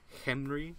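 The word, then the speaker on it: Khemri: and of kendry or they pronounce they pronouncing Henry the the K is silent so all good stuff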